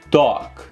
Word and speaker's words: talk: E nessa palavra fale o A com som de O com acento agudo. E não pronuncie o L aqui. Talk.